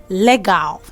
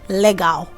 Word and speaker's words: legal: Legal. That's what a typical person in Nigeria will say. Legal. Okay, but the right pronunciation of this word is legal. So instead of you saying le, you say li.